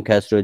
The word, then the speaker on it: کسرا: اینو من عمده میگم کسرا دیگه، اگرچه تلفظ باستانی چیز دیگه بوده ولی یه خوش می نشینه دیگه، کسرا با کسر.